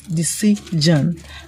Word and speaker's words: decision: If the letter that is before the SION is a vowel letter, you're going to pronounce the S as J. So the word is decision.